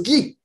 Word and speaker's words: Ghis: une auteure québécoise, Madame Guis. Bonjour Guis. Bonjour, bonjour Sébastien. Guy, on prononce Guy, qui vient simplement de.